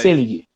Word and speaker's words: Seelig: Selig ou Selig? Nunca sei a pronúncia, porque são dois L's. Selig.